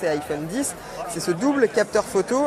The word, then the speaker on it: iPhone X: tout ça autre nouveauté de cet iphone icsa prononcent et iphone 10 c'est ce double capteur photo un double capteur